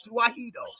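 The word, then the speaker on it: Tewahedo: That's how you say it, Tuwahedo.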